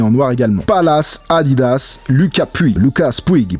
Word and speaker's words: Lucas Puig: Palace, Adidas, Lucas Puig, prononcé à l'anglaise, skateboarder français professionnel qui est signé chez Adidas et chez Palace Skateboard.